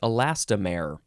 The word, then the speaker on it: elastomer: Next is elastomer. I think that's how you would say it. Elastomer.